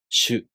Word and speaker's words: しゅ: To pronounce しゅ, the tongue moves from the [ɕ] consonant to the [ɯ] vowel. shu To pronounce しょ, the tongue moves from the [ɕ] consonant to the [o] vowel.